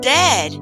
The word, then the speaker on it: dead: sounds like bird and dead it's said like bed not bead for goodness sake don't call